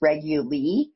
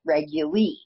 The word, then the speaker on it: Reguly: remember my last name it's just a variation it's reguli instead of regular so and that's how I try and tell people how to pronounce my name too it's like regular but reguli and so so r